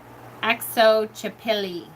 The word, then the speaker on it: Xochipilli: I chose, and I'm never going to say this God's name wrong or right, but it's Xochipilli. It's Xochipilli.